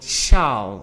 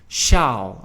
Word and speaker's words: sjaal: scarf we call it sjaal, alright? So note the pronunciation of the S and the J in the J, sjaal, alright?